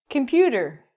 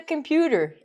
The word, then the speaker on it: computer: Hey, look at the computer. A? So Canadian to say A at the end. So again, between 2 vowels, U and E are vowels. We're going to pronounce it like computer.